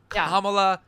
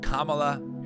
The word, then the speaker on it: Kamala: for the shout out that is completely not correct it is kamla Harris just watch too many